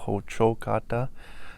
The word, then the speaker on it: Hocokata: The name of the building is Hocokata Ti, stress on the second syllable, Hocokata.